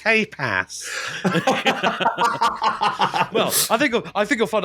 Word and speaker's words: tapas: It's pronounced tapas.